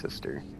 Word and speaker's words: Sester: You go to, it says Sester Janessa, but I'm pretty sure it's just pronounced sister.